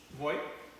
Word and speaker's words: Voigt: Voigt? vote, V-O-G-T. Vote V-O-G-T? like V-O-G-T. Yeah. It's pronounced vote, like, why do we bother?